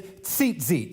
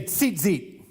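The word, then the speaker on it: ציצית: And then these tassels on the end, these are called, the Hebrew word is tzitzit. Say tzitzit. The way that's spelled, the way we would spell that in our English transliteration would be T-Z-I-T-Z-I-T.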